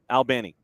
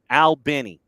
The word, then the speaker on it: Albany: of the city it's like you're talking to two two dudes one named Al the other named Benny albny so if you're from